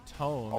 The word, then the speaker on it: tome: People always correct me when I pronounce it like that. A tomb is what dead people sit in. Is that? A tome is a book.